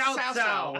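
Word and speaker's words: Cao Cao: I just like Cow Cow and Cow Pie. It starts with I know, I was going to say, it's pronounced Cao.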